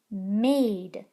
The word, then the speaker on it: made: Made. This word says made. Of course, if you get rid of the magic E, now it says mad.